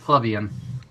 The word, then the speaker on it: plebeian: It's pronounced plebeian.